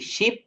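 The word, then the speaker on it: sheep: এখানে এস H double E পি, এইটা যেহেতু এখানে ইটা ডাবল রয়েছে, দ্বিত্ব অর্থাৎ দুইবার রয়েছে, তো এইটার উচ্চারণও কিন্তু আমরা একটু দীর্ঘ সময় ধরে বলবো, শিপ।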